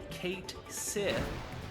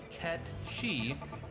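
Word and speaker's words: Cait Sith: is often confused as Kate Sid due to how it's spelled however it's true pronunciation is cat she as the name is Scottish Gaelic which means fairy cat this explains why he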